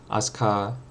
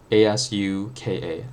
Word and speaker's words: Asuka: Asuka, A-S-U-K-A, Asuka, Asuka, in the Japanese pronunciation, which is a Japanese name.